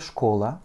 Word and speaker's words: школа: k, o, l, a, avec un accent tonique sur le o. Школа. Donc mon dernier a se prononce presque comme un e.